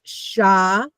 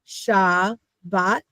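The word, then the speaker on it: Shabbat: So do you see that's two syllables and we want to look at it. So now it makes sense. So when I said if you have two vowels you have to have two syllables.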